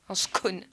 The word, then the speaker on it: scone: C'est comme un cône, mais avec un S devant. Un scone.